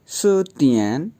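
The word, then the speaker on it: 词典: इसके बाद सतियन, CI पे सेकंड टोन है, DIAN ए पे थर्ड टोन है, तो यूं प्रोनाउंस होगा सतियन।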